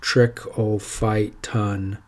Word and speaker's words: Trichophyton: the most common dermatophyte that's pronounced trick all fight ton rubrum trichophyton rubra and